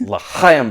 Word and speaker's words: l'chaim: I said it's l'chaim, but you got to kind of clear your throat like that. And he's sitting there, he's on stage, and he's sitting there, and he's like, l'chaim.